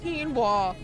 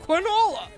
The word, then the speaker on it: quinoa: I mean, if if you're going to nitpick about somebody mispronouncing something that's that's not Yeah, but like come on. Quinoa.